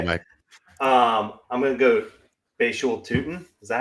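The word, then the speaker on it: Bhayshul Tuten: I'm going to go Bashul Tootin.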